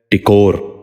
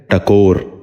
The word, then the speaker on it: ٹکور: ہیں۔ پہلا لفظ ہے ٹکور۔ یہ غلط تلفظ ہے، درست تلفظ ہے ٹکور۔ دوبارہ سنیے، ٹکور۔ بچوں